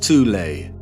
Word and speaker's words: Thule: secret society within germany called the thol society sometimes alternatively pronounced tulay that had sub-factions within